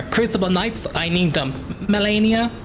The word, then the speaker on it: Malenia: Well, how am I pronouncing the letters today? Malenia.